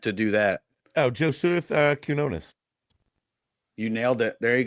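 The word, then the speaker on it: Quiñones: Oh, Joseph Quinones. You nailed it. There you go, Tim. You missed the Enye, but close enough.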